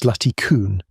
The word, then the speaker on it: Zlatý kůň: Then the team compared them to a skull from Zlatý kůň, pronounced Zlatý kůň, in Czechia, about 140 miles away.